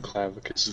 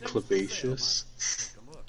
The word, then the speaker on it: Clavicus: It's pronounced clavicus. Yeah, the dog pronounced it Clavacious, I think he did. I think I remember that. but the actual I looked up the audio logs. The dog said Clavacious, but the guy said Clavicus.